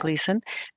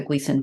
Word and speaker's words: Gleason: So let me just tell the listeners that Gleason is spelled Gleason. So yes. Gleason, Gleason.